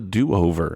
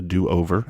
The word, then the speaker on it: Dew Over: The show is called The DoOver, and let me spell that for you. D-E-W, the D-E-W over. The DoOver is the name of the show, kind of like Mountain Dew.